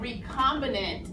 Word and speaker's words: recombinant: And then also recombinant is how you pronounce that word.